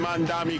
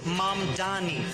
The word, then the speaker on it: Mamdani: Jan Mandami Cuomo Siwa. The name is Manni.